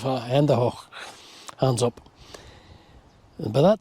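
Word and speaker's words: Hände hoch: Ladd could see their silhouettes, and Ladd shouted at the two men to Handy Hutch. Handy Hutch. It's a brutal pronunciation of Handy Hoch.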